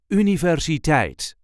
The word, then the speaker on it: universiteit: This is the way we say universate. There is a light emphasis on the last syllable.